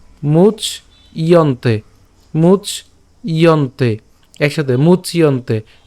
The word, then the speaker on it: মুচ্যন্তে: তাহলে অনসূয়ন্ত, শ্রদ্ধাবন্ত অনসূয়ন্ত মুচ ইয়ন্তে। কেন, এই যে জফলা আছে, তাহলে উচ্চারণটা কেমন করব, মুচ, মুচ ইয়ন্তে, মুচ ইয়ন্তে, একসাথে মুচ